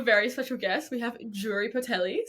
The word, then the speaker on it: Jure: know about me is how to actually say my name. So, my name is Jury, and it comes from the first two letters of my parents' name.